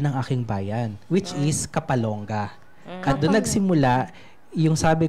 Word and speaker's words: Kapalong: Kaya ganun po siya bigkasin, Kapalong. Kapalong. Hindi siya matigas na Kapalong.